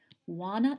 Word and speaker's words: Juana: It's spelled Juana, and it's pronounced Juana.